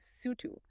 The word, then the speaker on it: Sutu: Now compare that with Babylonian texts, which frequently mention a group called the Sutu, pronounced roughly Sutu.